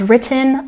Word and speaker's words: written: And last but not least, she has written a novel. The stress goes on the first syllable. Written.